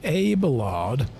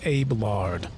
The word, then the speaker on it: Abelard: So this guy's name is either Abe Lard or Abe Lard. I think it's Abe Lard. Yeah. I'm pretty sure it's pronounced Abe Lard, not Abelard. That makes more sense to me somehow.